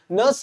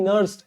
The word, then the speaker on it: Nernst: वो मैंने नहीं, एक साइंटिस्ट है जिनका नाम है नर्स्ट इक्वेशन, नर्स साइंटिस्ट थे, उन्होंने, नर्स नहीं नर्स्ट, NER ये जो स्पेलिंग